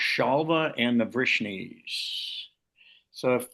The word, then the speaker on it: Śālva: So I think we've got time to go to chapter 76, the battle between Salva. It's actually pronounced Shalva and the Vishnes.